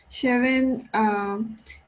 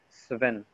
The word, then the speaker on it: Sven: Cheven, que es IT especialista y Fia ist Nadine van Mechelen. Sí, correcto. Pero decimos Sven. Decimos solo cuando tenemos el S más el T. Stein, por ejemplo.